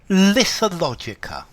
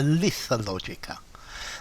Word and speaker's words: Lethologica: Lethologica or Lethologica. I think you can pronounce it with both, but I think I would prefer Lethologica.